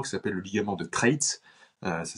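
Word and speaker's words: Treitz: a un ligament qui s'appelle le ligament de trit euh ça s'écrit T e i TZ qui relie directement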